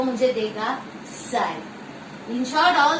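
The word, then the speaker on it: psi: इसको बोलते हैं साई. इसकी स्पेलिंग साई की देखे, SIGH, साई बोलते हैं इसको.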